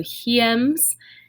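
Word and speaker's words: hiems: this is our latin word for winter so he ems is our latin word for winter and make sure you are practicing the pronunciation yourself repeat after me so he ends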